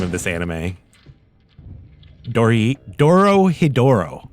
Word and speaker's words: Dorohedoro: Dorohedoro, right? Dorohedoro?